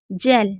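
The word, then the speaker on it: gel: जेल। जी के बाद ई है।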